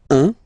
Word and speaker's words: un: Then 1. Alright, so when you combine this U and N, you get the nasal sound 1, 1.